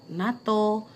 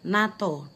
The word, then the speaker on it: NATO: So, for the example, like NATO, UNESCO, NASA. NATO, it's come from North Atlantic Treaty Organization, and it's pronounced NATO, not N A T O, or NASA, it's come from National Aeronautics and Space Administrations.